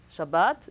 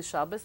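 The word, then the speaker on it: שבת: it, emes, or Shabbos, Shabbat, shin bet taf. In Yiddish we say Shabbos, but we write shin bet taf like it is in Hebrew.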